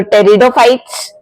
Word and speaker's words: Pteridophytes: अगर हम बात करें टेरिडोफाइट्स के बारे में, तो टेरिडोफाइट्स बेटा, टेरिडोफाइट्स की स्पेलिंग पी से शुरू होती है बट इसमें पी साइलेंट होता है।